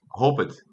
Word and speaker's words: hoped: So as you can hear, when you pronounce these words, we have that T sound at the end. So that's why there's a T there. So we say walked and hoped.